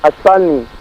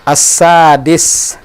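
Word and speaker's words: السادس: As-sani. As-sadis. As-sadis. Pakai dal.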